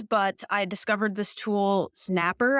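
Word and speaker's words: Snappr: I discovered this tool Snapper I think is how you say it it's xn a p p r and it's free I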